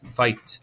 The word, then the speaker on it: fight: f i says phi g h is silent say t fight i and g says